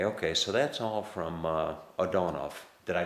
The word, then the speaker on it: Odonow: But anyway, okay, so that's all from Odonow. Did I pronounce that right? Yes. Okay, folks, that's all from Odonow.